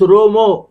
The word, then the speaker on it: Rama: Rama Rama Hari Hara they pronounce it as hurry Rama Rama Rama Hare Krishna Krishna Krishna Hare Rama Rama Rama Rama so Romo for them so these are all